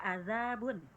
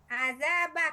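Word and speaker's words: عذابٌ: Kalau tidak ada harakatnya dibaca azabun. Iya. Azabun. Azaba kan ba itu.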